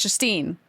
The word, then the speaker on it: Justine: It's Justine. They just somehow completely missed the J or the E at the end.